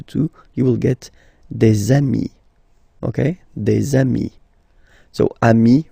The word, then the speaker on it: amis: you will get des amis, okay? Des amis. So ami, remember, doesn't change. Even if you get to write the S, then you don't pronounce it.